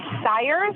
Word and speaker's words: Sires: And it's Sires, is that correct? Yeah, that's correct. Rhymes with pliers, and I'm here.